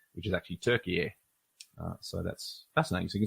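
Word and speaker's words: Türkiye: gone to the word, it's the English spelling of how they pronounce it in Turkish, which is actually Turkiye.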